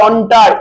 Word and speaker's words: entre: এই French word অন্টার, এটাকে বলে অন্টার, ENTRE, এটাকে কি বলা হয়? অন্টার, ঠিক আছে তো, অন্টার মানে বুঝলেন, যেটাকে অন্টার বলা হয়, প্রোনাউন্সিয়েশনটা হবে অন্টার, ঠিক আছে।